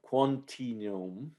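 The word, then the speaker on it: Quantinuum: will tell me off it's called um quantinium okay right it's a play with quantum and continuum right um and so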